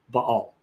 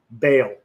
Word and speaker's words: Baal: refers to him as b ball baale as as sometimes people pronounce it but in Hebrew you pronounce it B all B um so put